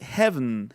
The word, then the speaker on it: heaven: Y, por ejemplo, en la de heaven, heaven, es como si no existiera la última E.